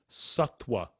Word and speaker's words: sattva: pronounced the same way satwa satwa so it's s-a-t-t and you'll see it's spelled v as in victor v a but that the v is pronounced it's more like a w or it's actually like